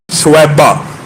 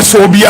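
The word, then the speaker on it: ثویبہ: سویبہ، جس کو بعض اردو دان کم علمی کہہ لیجئے یا عربی تلفظ سے ناآشنائی کہہ لیجئے صوبیہ کہتے ہیں۔ صوبیہ اور سویبہ میں زمین آسمان کا فرق ہے۔ ان کا اصل نام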